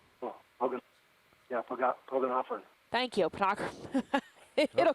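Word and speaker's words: Pogonophoran: Pagonophoran. Oh, Pogonophorn.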